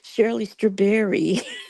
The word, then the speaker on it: Shirley Strawberry: to testify yes and you said it wrong it's Shirley straberry oh Shirley straberry I'm